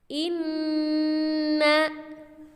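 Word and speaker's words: إِنَّ: Cara membacanya adalah menghentakkan suara nun yang bertasydid tersebut dan jangan lupa didengungkan ke pangkal hidung.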